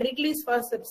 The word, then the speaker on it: Wrigley's: within ichimaker this is wrigley's outlets process w is silent is one day w is silent wrigley's what are the parts